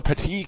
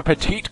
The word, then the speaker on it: Petit: out to that correction there's no e at the end so you don't pronounce last T but Cho will lead